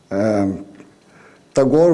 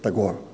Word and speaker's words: Tagore: And curiously, when I was searching for some data about Tagore in Brazil, I found out that we have many Brazilians named after Tagore. We pronounce, by the way, don't pronounce Tagore, we pronounce Tagore.